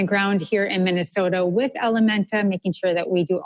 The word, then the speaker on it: Ellementa: Well, Ellementa is spelled E-L-L-E-M-E-N-T-A. That is L, which is French for her. Menta, Spanish for mind, her mind.